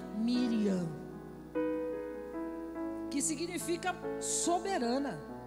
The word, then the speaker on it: Miriam: ela tem um nome como é o nome dela em hebraico a gente pronuncia Miriam que significa soberana